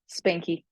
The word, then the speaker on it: Spanke: to supern normalized spank is that the right way to say your name Spanky Spanky okay so welcome to super